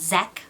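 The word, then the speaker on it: Zak: a young man named Zach Valentine. They were said to have been a match made in heaven, but were they? His name is spelled Z-A-K, which is pronounced Zach, but I'm not going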